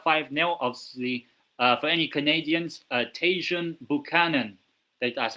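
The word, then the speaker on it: Tajon Buchanan: Now obviously uh Val over the weekend uh beat Jirona 5-nil obviously for any Canadians Tasjun Buchanan that that's how you say his name.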